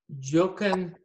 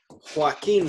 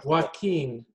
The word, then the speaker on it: Joaquín: A Jochen, ¿qué le gustan? Joaquín se pronuncia. Joaquín.